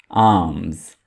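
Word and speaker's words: alms: आर्म्स। यहाँ पे एल को हाईलाइट किया गया है तो एल यहाँ पे आपने नहीं पढ़ना है, एल को साइलेंट रखेंगे।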